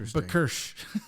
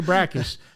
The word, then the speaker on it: BRCKSH: Not Bakirsh. Yeah. You say brackish, but you spell it Bakirsh.